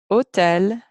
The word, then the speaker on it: hôtel: If it's got that accent mark, or if it's a short word and it's the last sound in the short word, or the last sound in the syllable, as in this one, it's going to say O, O.